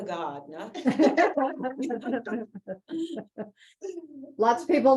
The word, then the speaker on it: Gardner: um there was no she did not pronounce the r in Gardner it was always you ask her her name it was Ava Gardner lots of people like